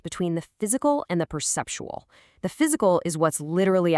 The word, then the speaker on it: perceptual: It's four syllables with the stress right on the second one.